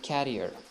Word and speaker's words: carrier: uh have the same sounds they are not pronounced in the same way so career and carrier carrier mr jones has been working for an